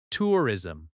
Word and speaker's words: tourism: Tourism. Tourism has stress on the first syllable.